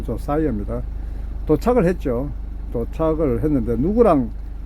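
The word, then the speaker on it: Josiah: 곧 그 조사이어가, 우리는 보통 조시아라고 하죠. 조사이어, 발음할 때 조사이어입니다.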